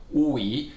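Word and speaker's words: 武夷: First of all, the word Wuyi, which is pronounced with the falling rising Wuyi and a rising E tone, so Wuyi.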